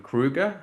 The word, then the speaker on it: Krüger: Johann Krüger. I think I pronounced that correctly, right?